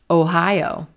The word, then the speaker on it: Ohio: We don't have any schwas in this word. We have roseboat, oh, oh, oh, Ohio, Ohio. But the roseboat sounds are unstressed in this word. They're quicker, creating contrast.